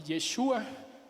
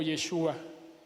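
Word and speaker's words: ישוע: La única diferencia es que Jesús no contiene la letra de Hei, pero Josué sí, y la pronunciación, aunque no me sale muy bien, es Yehoshua y Yeshua.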